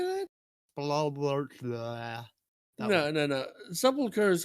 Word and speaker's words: Sepulchre: Sepulchre is how you say it, but how did you say that? Spalosha.